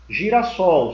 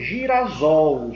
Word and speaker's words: girassol: que entender que eu tenho duas palavras perto Girassol se eu tirar aqui essa ligação até para